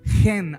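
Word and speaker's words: חן: La palabra llena de gracia en el original es kanum, que está relacionada al sustantivo hebreo gen, aunque se escribe ken, es gen.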